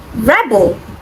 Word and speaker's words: rebel: another now option D Rebel rebbel is someone who rides in opposition and the stress is on the first level but when I say rebel the stress on the second syllable and it means to rise in a position that becomes the verb so the question is